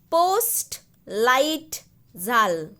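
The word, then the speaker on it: Postleitzahl: Post, light, zal. Post sound you can make first, then L-I-G-H-T, light, like that sound can come, and then zal, za. H sound is little silent.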